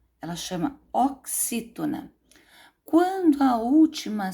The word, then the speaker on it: oxítona: Então, a gente chama de oxítona, não é oxitona, como algumas crianças falam, não. É oxítona.